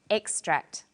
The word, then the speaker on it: extract: when it's a noun it's pronounced extract the emphasis is now on the first syllable and this pattern of